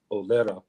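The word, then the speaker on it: O'Laoire: His name is Sean Olera. His last name is spelled Olaoira, and he just published a book.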